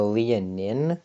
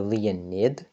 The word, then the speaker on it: leonin: and hi so apparently this thing is called the leonin not the Leonid I don't even know